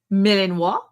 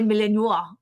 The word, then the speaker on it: Malinois: And I'm like, Malinois?